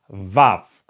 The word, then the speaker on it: vav: pretty simple I believe the next letter is VAV VAV okay like in Vapor Vapor you know when you say Vapor it's like VAV Vapor it's the same beginning of this word okay V in written